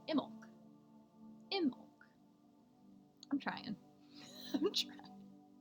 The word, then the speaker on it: Imbolc: Oh, and Carmina says it's the B is silent. Imbolc.